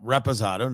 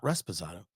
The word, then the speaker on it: Reposado: ago we did tequila I was pronouncing it wrong I don't know why it got into my head Rizado Oh I thought you said was pronounced Tequila No no no Reposado not Rosado and there's some dude